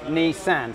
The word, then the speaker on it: Nissan: reason for that is in japanese the number two is pronounced knee and the number three is pronounced sand so okay nissan so this is knee